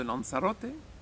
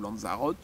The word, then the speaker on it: Lanzarote: Il y avait une population de pouillot des Canaries sur l'île de Lanzarote, ou Lanzarote, si on prononce à la française, qui a disparu.